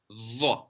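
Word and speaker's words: ظ: Now that is pronounced with your tongue between your teeth. Dha. Still round mouth, but your tongue between the teeth.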